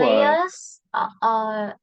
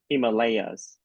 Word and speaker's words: Himalayas: In this word, you should stress on the third syllable. Himalayas. Yeah, repeat Stress on after the me. first syllable. No, the third The syllable. third. Oh, Yes, yeah. Himalayas.